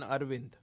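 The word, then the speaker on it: Aravind: Donald says, please note that there are two A's on Arvind. A-R-A. Even though the second A is sometimes glossed over in the pronunciation of some people.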